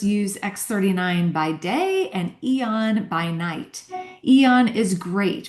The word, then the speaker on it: Aeon: It's pronounced Eon, but spelled Aeon. Many of our customers use X39 by day and Aeon by night.